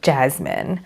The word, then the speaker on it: Jasmine: So in my sister's name, we usually pronounce her S as more of a Z, Jasmine.